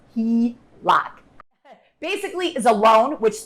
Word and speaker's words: HELOC: line of credit often called the HELOC and pronounced he rock basically is a loan which the lender agrees